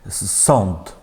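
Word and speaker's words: sąd: Сонд. Там те чуємо, так?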